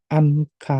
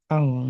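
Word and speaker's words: 안 가: Ini ada N bertemu G. N-nya dibaca eng ya. Jangan anka tapi ang ya. Dibacanya ang gitu ya.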